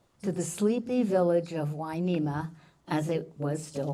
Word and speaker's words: Hueneme: Hueneme, spelled with an H and U to make the W sound.